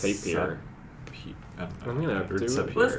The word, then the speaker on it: Sapir: Is it Sapir or Sapir? Like Tapir. I think it's Sapir.